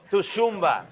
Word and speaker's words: Tshitumbi: Se escribe como Tshitumbi, pero se pronuncia Tshitumbi.